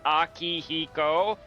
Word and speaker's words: Akihiko: It's pronounced Akihiko, not Huang, but you know, whatever.